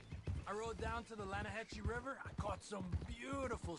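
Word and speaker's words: Lannahechee: the other day I rode down to the Lana hexie River I caught some beautiful steelhead trout Lana no Lana hacci it runs right here here yeah but it's pronounced Lana Hass why is everything in English said differently than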